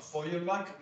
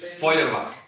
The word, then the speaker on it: Feuerbach: Marx toma dialéctica de Hegel y materialismo de Feuerbach y construye una teoría de la historia.